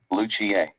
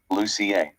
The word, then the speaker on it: Lucia: Caribbean you'd say luad if you're Spanish or Italian you'd say Santa Lucia Luchia and if you're from Scandinavian countries such as Norway Sweden Finland and Denmark you'd say s Lucia lucier in America many people